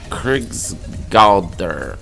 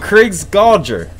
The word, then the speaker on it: Krigsgaldr: Well, the name of the song is, go ahead, try to pronounce that one for me. Let me give it a shot. Krigsgaldr.